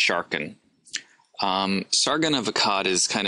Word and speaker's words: Sargon: The first one we're going to be looking at is Sargon of Akkad, probably pronounced Sharkan.